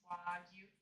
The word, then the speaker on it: wagyu: They just do like the soft vowels, so like it's wagyu.